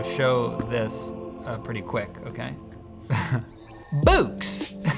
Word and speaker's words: Boox: read you read books books are spelled with a KS let's change it to an X for fun books I actually was interested